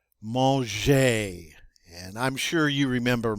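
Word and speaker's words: manger: next one maljee maujer that g is a soft g because it's followed by an e so we pronounce it like j instead of g monge and i'm sure you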